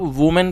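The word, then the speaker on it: woman: आपको ध्यान देना होगा जब वर्ड होगा डब्लू ओ एम ए एन तो उसको आप वूमेन पढ़ोगे जो कि एक महिला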